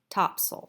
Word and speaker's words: Topsail: Actually, it's Topsail Island. It's spelled Topsail, Topsail, but pronounced Topsail.